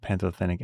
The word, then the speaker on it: pantothenic acid: Does have nascin, B6, and pantothenic acid or panto pantothenic acid. I've been pronouncing that wrong for years. So it looks like panto thenic.